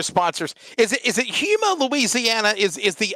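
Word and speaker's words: Houma: is it is it Huma Louisiana is is the O silent so it's Huma Louisiana H hom like so the U is silent like Oklahoma yeah hom yeah H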